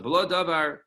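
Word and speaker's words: מלא דבר: All right, so below Davar. So it's written over there in the pasuk with a vav, but it's pronounced with an aleph.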